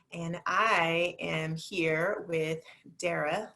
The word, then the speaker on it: Dara: And I am here with Dara, like Sarah, and I'm just always going to say that because that's how I learned to say her name correctly.